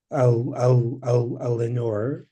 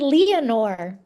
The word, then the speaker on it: Leanor: So I actually am very happy to have a Lenore of a 5 iron Actually, frenzy. we pronounce it Leanor.